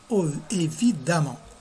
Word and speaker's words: évidemment: Aussi, pour évident, évidemment, ça s'écrit évidemment, mais ça se lit évidemment.